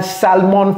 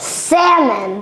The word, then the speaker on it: salmon: It's not I had salmon for dinner. Donc, on va demander à notre professeur de Harvard de nous prononcer ça 3 fois. Cody, can you pronounce this 3 times? Salmon.